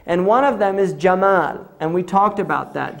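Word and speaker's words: جمل: is from yemen because the egyptians say gemma they pronounced the gene gemmal so when the the europeans first heard it they heard gamal camel right so camel is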